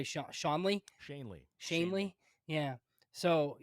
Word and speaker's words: Shanley: Shanley.